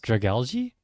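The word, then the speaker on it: Dragalge: How do you say it? Drag Algae. I think so. Like algae.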